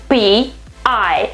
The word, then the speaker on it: pi: that's great i mean this is a another kind of pie this is i mean